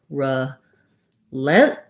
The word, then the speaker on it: relentless: And then we're going to release that T, relentless, right into our L.